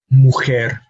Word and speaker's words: mujer: el lugar profesor mujer this column has words with an emphasis on the last syllable but because they end on a consonant other than N or s they are expected to have the emphasis on that last syllable so we do not